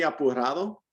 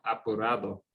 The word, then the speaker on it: apurado: ¿Almuerzas muy apurado? ¿Qué significa apurado?